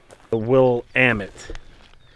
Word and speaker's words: Willamette: so 1/2 ounce of Willamette will land it rhymes with damn it will am it that's fine toss this